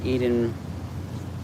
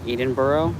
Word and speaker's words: Edinburgh: Sean, you said Edinburgh wrong. It's pronounced Edinburgh.